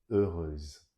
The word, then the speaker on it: heureuse: So the E-U-X ending in the masculine will change into euse, E-U-S-E, pronounced as euse. Courageux, courageuse, heureux, heureuse.